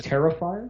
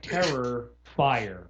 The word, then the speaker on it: Terrifier: Terrifier, like yeah, Terrifier. Terririfier. Oh, so like okay, so it's normal. Yeah. I wasn't sure if it was like Terror Fire or something. No, no, no.